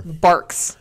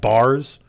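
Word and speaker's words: Barq's: and tell him it's barks I think it was probably just like people would say barks and I would just not hear the K pronunciation and think it's like bars and maybe I just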